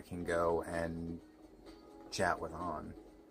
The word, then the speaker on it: Ann: go and chat with On. Or Anne or On, however you want to say it. in the game, it's pronounced on.